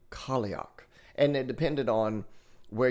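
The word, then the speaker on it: Cailleach: So that is pronounced Kioch. Kioch.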